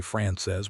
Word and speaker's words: Frances: Francis is, she pronounced it the French way, France says, with the second syllable soft and the whole word landing like something meant to be held carefully. "That is how you say it properly." "France says," he tried.